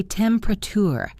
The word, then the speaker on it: temperature: We do the same with temperature. We say temperature. We drop the middle syllable.